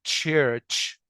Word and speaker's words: church: احنا كعرب بنغلط ان احنا احيانا بننطق ايه بقى؟ شوف الرمز ده ش، يبقى بدل ما انطقها بنطقها ش، فبقولها احيانا church او church. طبعا ده wrong، ده من ضمن الايرورز. يبقى نطق للكلمه دي church.